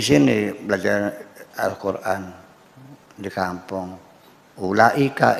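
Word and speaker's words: أولئك: Ini bacanya apa ini? Ulaika.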